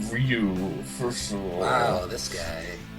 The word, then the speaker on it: Ryu: can do is a rayu vers rayu match like that is that is chess of fighting me uh actually it's uh pronounced Ryu for sure wow this